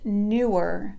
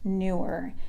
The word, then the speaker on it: Neewer: company they are called newer but it is spelled n ee w e R but it's pronounced newer and they have several